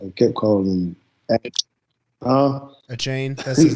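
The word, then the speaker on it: Achane: name a chain i kept calling him uh a chain that's like how you say it yes that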